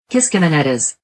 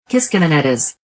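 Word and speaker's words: Kiskiminetas: Using various online pronunciations, this is how it really sounds. Kishkemenitas. Kishkemenitas.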